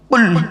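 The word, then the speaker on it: قُلْ: কুল। উচ্চারণটা করুন। কুল। কুল নয়, কয় হস্য উলা কুল, কয় বয় হস্য উলা কুল, দুটো কুলের মধ্যে পার্থক্য আছে গো বাবা।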